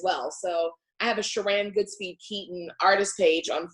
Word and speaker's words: Sheran: the most, and just put in Sheran, it's spelled like she ran down the street.